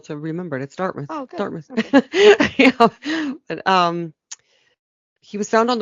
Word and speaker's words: Dartmouth: in dartmouth nova scotia everyone else in canada mispronounces it as dartmouth dartmouth is correct um on the weekend